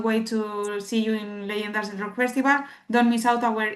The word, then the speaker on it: Leyendas del Rock: Leonidas del Rock, right? Do I say pronounce it right? Leyendas. Leyendas del Rock. Yes, perfect.